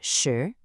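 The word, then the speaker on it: 识: Now moving on to our third character, we have shi, which is pronounced shi, shi.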